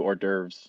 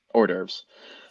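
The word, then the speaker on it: hors d'oeuvres: I think they do orves if I remember correctly to that or on Christmas Eve they do ores you gotta pronounce it with a it's almost Jewish or derves um uh so yeah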